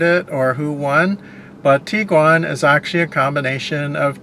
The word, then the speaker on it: Tiguan: they got d1 so the actual way you are supposed to pronounce that if you're going to pronounce that the German way is to pronounce it as the Tiguan it's not the tig one or or Tiguan or or Taiwan or anything like that the proper way to pronounce it the German Way is Tiguan and interestingly enough we